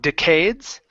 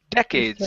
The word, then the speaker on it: decades: our next word is decades instead of decades it's decades stress at the beginning okay decades okay good